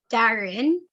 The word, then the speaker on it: Darhen: get it right well it's actually darren it's a silent h and then my last